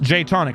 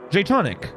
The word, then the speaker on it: Jatonic: Pronounced Jatonic, by the way. I think I got that. Yeah. Jatonic. If I said it wrong one of the times, I'm sorry. In my head, I was trying to read it as Jatonic.